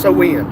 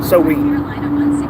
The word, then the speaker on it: Samhain: Holiday called uh Samhain pronounced sowain. Okay. sowain Off topic said Bill Murray is one of the Ghostbusters by the way.